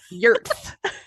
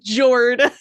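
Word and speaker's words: Jörð: I would say no, it is spelled with a J. It is Jord, but it's pronounced Jörth.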